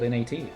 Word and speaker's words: gnats: right now that still pronounces gnats as gnat, because why is there a G in front of that? It's like because it's silent, but why? You get the exact same pronunciation if it was just called NAT.